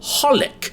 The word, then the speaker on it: xxxHolic: the thing is that the three exes are not actually pronounced when you say the name it's simply called Pollock the exes are at or